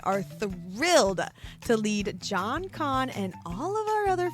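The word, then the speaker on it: Kan: In this book, we will meet our morally gray FMC rave, and our fiercely beautiful MMC Con. Yes, that's con pronounced just like our con except for this one's K A N.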